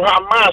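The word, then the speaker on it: حماس: Pero jamás, pronunciado en árabe, significa entusiasmo.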